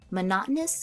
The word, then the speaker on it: monotonous: Monotonous can be a difficult word to pronounce. So let's look at the pronunciation a little bit closely first. I can cut this word up into four different sounds here. So the first part I can say it as m.